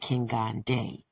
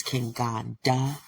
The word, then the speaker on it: Kenganda: She said King Gande, but I think it's King Gandha, the correct pronunciation.